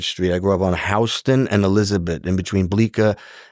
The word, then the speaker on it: Houston: Around the, and it's really Houston, but we call it Houston in New York, but it's pronounced Houston.